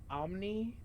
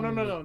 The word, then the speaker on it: Pomni: Omni? No, Pomni.